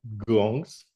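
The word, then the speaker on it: དགོངས: coming also into pronunciation gong gong like this you see this one is written gongs the gongs but it's pronounced gong gong or g means um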